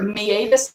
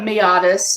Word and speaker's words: meatus: It's called a meatus or meatus. Americans mispronounce that. It's Latin.